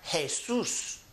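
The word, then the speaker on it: Jesús: We also have Jesus, starts with an J, but it has that H sound.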